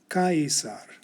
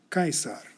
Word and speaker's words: Caesar: In my next video, I'll tell you that the C always sounds like a K in Latin. But today we've learned that we should pronounce the letters A-E exactly as written. Caesar, Caesar.